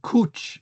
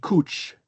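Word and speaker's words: cwch: This is like a we just the cooch would be cooch not coo or whatever we did. It would have a ch sound at the end.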